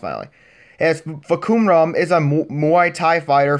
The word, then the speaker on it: Fahkumram: trailer for the new tekken 7 original character for kuma ROM that's how his name is pronounced miley yes bakhoum rom is a muy Thai fighter from Thailand and